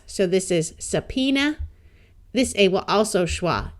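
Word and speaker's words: subpoena: so this is Phoenix this B is silent and a at the end of these words schwas so this is sapena this a will also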